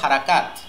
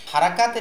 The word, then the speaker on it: হারাকাত: বাংলাদেশের অধিকাংশ উস্তাদ আমরা নরমালি এভাবে বলি যে হরকত। দেখেন, হরকত এটা আরবি উচ্চারণও শুদ্ধ না, বাংলা উচ্চারণও শুদ্ধ না, উর্দু বা ফার্সিতে আছে কিনা আমার জানা নাই। তো আমরা এই লেসনের নামটা বা টপিকের নামটা আমরা হরকত না বলে হারাকাত বলবো, ঠিক আছে?